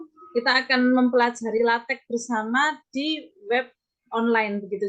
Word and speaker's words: LaTeX: ya Jadi yang pertama pengucapannya itu latex ya Ada juga yang lahteex tapi di Indonesia dikenal sebagai latex begitu saja Kemudian latek ini